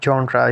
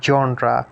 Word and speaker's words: genre: literature so what basically genre is it's a french word and its pronunciation goes like it's a just sound genre genre and it basically